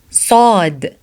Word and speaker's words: ص: Sod so sod so the sound of sod is like the sound of seen but harder.